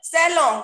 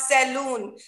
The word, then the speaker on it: salon: Salon, we should pronounce it salon, not saloon. It should be pronounced as salon.